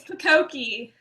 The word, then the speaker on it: Pakoki: everybody, it's Pakoki. For anybody Fukoki. that didn't know how to pronounce it, it's pumpkin.